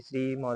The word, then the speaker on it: श्रीमद्: ठीक है, यानी कि श्रीमद् भागवत गीता, द को जो है आधा पढ़ना है।